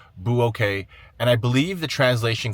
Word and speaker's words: Bueokae: How do you pronounce this? Bueokae. Bueokae.